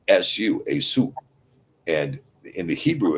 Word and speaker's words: Esau: Well, I I actually pronounce it Asu. Asu. Yeah. E Su. Asu.